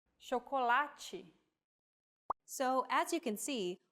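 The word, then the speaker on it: chocolate: like this seem to when paired with age forming the Digraph CH we have the sound shokolachi so as you can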